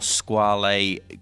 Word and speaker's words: Squale: name came from because this is the Italian pronunciation of the name now in 1974 squall a created their own brand the squall a brand became its own